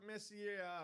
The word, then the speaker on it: Messier: Speaking of I don't want to players, get autocorrect by Bobby out there because he'll tell me it's pronounced Messier.